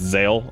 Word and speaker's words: Zale: Zale. Okay, so it's Zale.